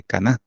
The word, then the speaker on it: Caná: Porque lleva tilde, ¿va? Las bodas de Caná, de Galilea.